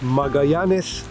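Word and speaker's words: Magallanes: که در کنار تنگه ماژلان قرار گرفته همین تنگه که در حقیقت ما بهش میگیم ماژلان ولی به اسپانیایی میگن ماگی نس و البته ایشون پرتغالی بود و تلفظ دیگه‌ای داره اسمش شهر پونت نا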